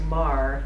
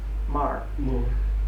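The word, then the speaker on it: Meagher: on the immigration his name is Thomas is pronounced Mar spelled m-e-a-g-h-e-r Mar he was the son of an Irish Parliament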